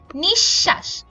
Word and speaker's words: নিঃশ্বাস: কিন্তু শব্দের মধ্যে যদি বিসর্গ থাকে তাহলে এর উচ্চারণ দীপ্ত হয় যেমন নিঃশ্বাস এখানে মাঝখানে একটা বিসর্গ থাকার কারণে তালব্য স